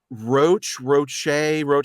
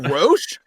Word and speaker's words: Roche: She was like Roche, and I'm just like, oh, Roche.